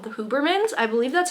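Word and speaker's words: Hubermann: And so all we know is that she's put into foster care and she's given to a family called the Huberman's. I believe that's how you pronounce their name.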